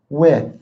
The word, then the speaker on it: with: A little more TH while I'm here. With. Hey, John, I want to go with ya. It's terrible English. Hey, John, I want to go with you.